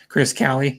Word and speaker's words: Kale: Hi, sis, Chris Callie. That's how you say her name.